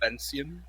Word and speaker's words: Vancian: Okay, can you say the proper pronunciation again for me so I can try and internalize it? Vancian.